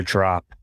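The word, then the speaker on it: Draup: you think it is it's spelled d-r-a-u-p pronounced drop but spelled to carly's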